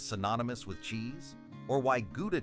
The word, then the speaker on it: Gouda: with cheese or why guda cheese pronounced Howa in Dutch is so globally beloved